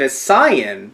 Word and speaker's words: Saiyan: you guys don't know he pronounced it a Sian which isn't the way that Funimation does it but it's technically the quote/unquote accurate way when the when the